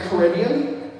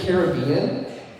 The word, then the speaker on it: Caribbean: with Pirates of the Caribbean, but we encounter the linguistical research topic for you guys. I've always said Pirates of the Caribbean, but when you go visit the Caribbean, you pronounce it differently.